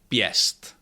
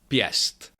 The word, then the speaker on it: pěst: If hatcham follows another consonant which is not affected by that it is pronounced yeah like in the word piest pest that means a fist.